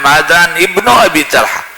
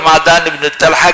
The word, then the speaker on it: معدان ابن ابی طلحہ: قال ابو عیسیٰ وابن ابی طلحہ اصح، کہتے ہیں کہ وہ جو پہلی روایت ہے نا معدان ابن ابی طلحہ یہ صحیح ہے، اور معدان ابن طلحہ کسی وہاں پر مبنی ہے. صحیح تلفظ وہی ہے، صحیح نام وہی ہے.